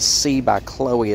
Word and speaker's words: Chloe: I went ahead, even though I mispronounced it, and I got the C by Chloe purse. I was calling it CB, but it's C by Chloe purse.